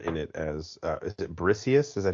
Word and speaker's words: Briseis: Number one, Rose Byrne in it as is it Briseis? Is that how you pronounce her name?